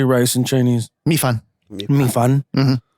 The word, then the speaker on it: 米饭: 米饭. Mm-hmm. 米饭.